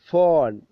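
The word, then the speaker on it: phone: ഫ് ആണ് ഫൺ ഫൺ ഫോൺ ഫോൺ എഴുതൽ നമുക്കറിയാലോ പി എച്ച് ഒ എൻ ഇ ആണ് പക്ഷെ സൗണ്ട് സിംബൽ വരുന്നത് എഫ് ആണ് ഫ് ഫ് എഫ് അല്ല ഫ് ഫോൺ ഫോൺ okay next sound വ്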